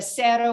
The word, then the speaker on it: Zero: for reds uh there's the cerro which is spelled it looks like zero uh that's that's a